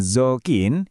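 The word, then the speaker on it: 雑巾: Ada zokin, dibacanya zokin, itu artinya kain lap.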